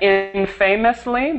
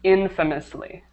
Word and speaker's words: infamously: so it looks like in famously but it's pronounced infamously infamously the stress is perfect the stress is on the first syllable uh okay everything else